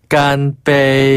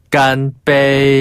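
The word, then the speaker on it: 干杯: 깐빼이. 한 번 더 깜이. 깐빼이.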